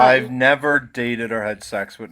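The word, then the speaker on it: Niamh: Does anyone know how to pronounce that in the audience? Tig. How? Tig. Tig? Yeah. Neve. What? Neve. Nave?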